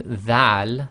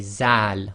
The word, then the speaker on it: dhal: A lot of countries, they pronounce this as a Z sound, so instead of saying dhal, they say zal, which is wrong.